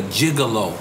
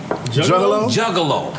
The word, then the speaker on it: Juggalo: want to get into your gigolo it was did I say it right Juggalo tec-9 yes but we've